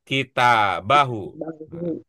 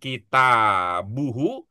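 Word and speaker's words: كتابه: Muhammadunahu yaudu kitabahu kitaba ya bacanya begitu ya kitaba ya kitabahu iya kitaba ya bacanya ya oh iya ya bukan kitabuhu bukan pula kitabihi bukan ya iya bahu Apa pertimbangannya kita Bu?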